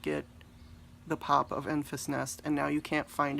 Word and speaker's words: Enfys Nest: It's Enfys Nest. Can we talk about Enfys Nest? You guys. Enfys Nest. Amazing, amazing. I am so angry right now that I did not get the pop of Enfys Nest, and now you can't find it anywhere.